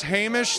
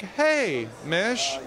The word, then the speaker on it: Hamish: tell everybody on YouTube how you pronounce it correctly once and for all oh yeah my name's hamish linklater like hey mich there you go not Hamish Hamish not Himesh 'no but it's fine if